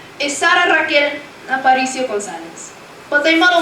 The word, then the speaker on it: Rachel: course to my dismay, they pronounce it the way it's spelled. You see, it's spelled R-A-C-H-E-L. Though my life I've known it to be said the same way as Raquel, R-A-Q-U-E-L.